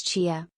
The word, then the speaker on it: chia: where is my drink to pronounce chia pretend to say cheetah without the t a popular phrase from